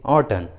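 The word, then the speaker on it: autumn: Last में रहता है, तब एम साइलेंट रहता है, एम का उच्चारण नहीं करते, जैसे ऑटन, कॉलन, सोलेन।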